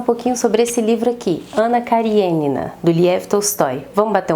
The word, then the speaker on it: Anna Kariênina: de continuar o vídeo na verdade eu sei que a pronúncia correta não é essa mas eu vou tratar aqui como anna karenina nessa pronúncia abrasileirada porque eu já me acostumei s nome já se fixou assim a minha cabeça então é mais fácil do que ficar pronunciando que adora de uma maneira ponto primeiro vocês sabem